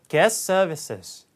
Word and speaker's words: guest services: 발음이 어렵죠. guest, 발음이 st, 이렇게 세 개가 연속돼요. 중간에 t가 탈락. 그 다음에 ss가 또 겹치면 그러면 하나로 또, 그러니까 거의 한 발음처럼 그냥 guest services. guest service가 guest services 이렇게 들리는 거예요.